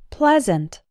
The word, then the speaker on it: pleasant: words Pleasant and pleasure have the e sound as in the words get best and read Pleasant pleasure something similar happens